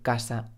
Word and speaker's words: casa: cosa en este caso en español siempre vamos a decir casa y cosa porque he dicho